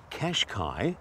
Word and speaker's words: Qashqai: But while the Qashqai, because that's how you pronounce it, might have a confusing